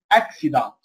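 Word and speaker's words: accident: طيب لو جاء مكرر يعني سي مرتين، للكي والثاني اس، زي هنا ايه؟ اكسي، اكسيدانت، اكسيدانت، حادث، اكسيدانت، اكسنت. تمام، بطاقة نظيف حلويات، تمام. اكسنت، اكسنت اللي هي اللهجة. سكسسفول، سكسسفول، ناجح. خلاص، يبقى الأول كي والثاني اس.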